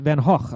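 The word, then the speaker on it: Van Gogh: there's a painting by Van go or pronounced van HW according to the stoyers that was painted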